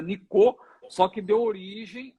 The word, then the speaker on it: Nicot: Que tem T mudo no final. Em francês se pronuncia Nicot, só que deu origem à nicotina.